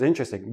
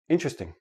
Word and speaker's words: interesting: you to understand that the word is interesting but in everyday speech interesting interesting interesting I have four syllable syllables when I actually say it naturally it becomes three syllables and that T and the R becomes like a CH but that's we'll talk